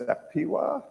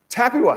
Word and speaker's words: Tapiwa: That's Big Boy, and that is Sapiwa. We always got his name mixed up. But, Tapiwa. See, I said it wrong every time.